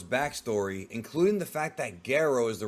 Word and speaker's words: Gero: more about G's backstory including the fact that goo is the right way to pronounce it not jro oh wow I was about to say don't